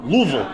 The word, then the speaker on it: Louisville: keep getting made fun of I think the locals say Louisville Louisville Louisville there you go Louisville I was going